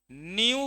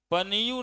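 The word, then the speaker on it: nu: न्यू बोलिएगा, पनियू नहीं बोलिएगा, पी साइलेंट है ना, न्यू।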